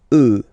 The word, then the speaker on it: œufs: Then, un œuf, des œufs. Okay, and we'll make the liaison here to make it sound more beautiful. Des œufs.